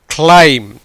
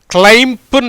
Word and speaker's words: climb: கிளைம். கிளைம், கிளைம்புன்னு சொல்லக்கூடாது, கிளைம்னு தான் சொல்லணும். கிளைம்புன்னு சொல்லக்கூடாது. அந்த பிக்கு இப்புன்னு சொல்கிறோம் இல்லையா, அந்த பிக்கு உச்சரிப்பு கிடையாது.